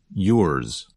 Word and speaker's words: yours: So the sound of Z is not as strong or as long as in a word like zero. Instead, it's more like a Z with a little S at the end.